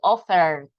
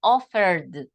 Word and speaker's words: offered: We don't pronounce T. It's not the group of T. So we don't say it offered. We say offered, offered.